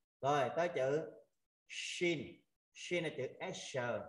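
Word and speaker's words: ش: À rồi tới chữ shin. Shin là chữ sh. À mọi người ha, mình phải tập đọc cái chữ shin sh.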